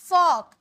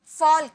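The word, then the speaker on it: folk: slander लोग फॉक फॉल्क यहां पर जो एल है ना यह साइलेंट है इसे फॉल्क नहीं यहां प एल जो है साइलेंट है जैसे कि एग्जांपल में वॉक ले लीजिए सेसे वाल्क नहीं एल साइलेंट होता है से वॉक पढ वैसे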